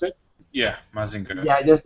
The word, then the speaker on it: Mazinger: a uh maing mazinger right that's how you pronounce it yeah mazinger yeah there's like masinger there's like Gundam there's